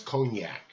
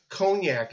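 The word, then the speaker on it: konjac: n j AC and the J is silent so they call a glock oh man and the botanical name is cognac and it's a powder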